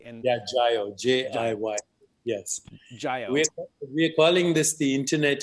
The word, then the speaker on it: Jiyo: I believe I'm pronouncing it correctly. And Yeah, Jayo, Jiy. Yes. Jayo.